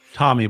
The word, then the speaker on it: Thomby: Tommy, but it's spelled THOMBY.